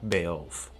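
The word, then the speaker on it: Beoulve: i got it right i pronounced it correct ramza belf so in your face in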